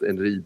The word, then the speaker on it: Einride: Uh, and it's pronounced Enri in in in in that context and it's sort of a another word for for Thor.